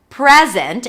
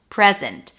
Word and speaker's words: present: or as a noun, the secret is in the stress. Present, if the stress is on the first syllable, it's a noun. I want to give you a present, present. If it's a verb, the stress is going to be on the second syllable, present.